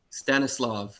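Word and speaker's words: Stanisław: Now someone was saying in the comments that the W in Stanislav is pronounced like a V. So Stanislav.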